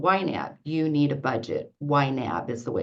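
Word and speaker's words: YNAB: this program called wet you need a budget yab is the way it's pronounced and we started uh working on that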